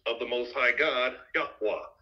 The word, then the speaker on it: Yahweh: the most high God yahwa that's his pronounce the name it's not Yahweh yahwa that's how you say it in the Paleo hebraic or Aramaic tongue so they uh retained